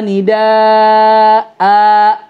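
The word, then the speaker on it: نداء: Jadi harusnya gimana bacanya? Illa du'a wa nidaa Dan ingat hanya 2 harokat aja.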